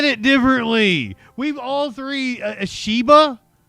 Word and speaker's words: Ishiba: Ashiba. Ishiba sounds more likely. He said shea. That was closer to the way I said it. Ishiba. That That's probably the correct pronunciation.